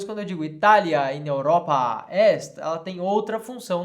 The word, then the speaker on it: Europa: Ao invés de dizer Itália in Europa est, eu digo Itália in Europa est. Eu tenho um tempo a mais aqui na fala, né? na pronúncia aqui dessa palavra, quando ela está no caso ablativo.